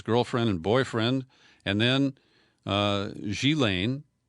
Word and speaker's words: Ghislaine: and boyfriend and then sheelane I've been mispronouncing her name Ghislaine which is more phonetic but she Lane the daughter of Robert Maxwell became the procurer of young girls for her former lover mr.